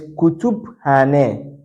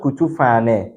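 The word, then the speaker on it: Kütüphane: So this is Kutuphane, Kutuphane, Kutuphane, not Kutufane. All right. So Turkish language, you pronounce every letter, but in English, these two letters, when they come together, it has different sound.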